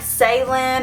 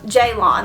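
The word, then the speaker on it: Ceylan: so it looks like Salin or Salon um I did look up the correct pronunciation and I believe it's Turkish and the pronunciation is um Jon like j a y so this is the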